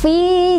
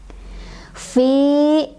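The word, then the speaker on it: في: Fi ketemu sama mad thobii. Sebabnya karena ada ya sukun didahului oleh huruf berbaris kasrah, yaitu di huruf fa. Cara bacanya panjang dua harokat. Fi, fi, gitu ya.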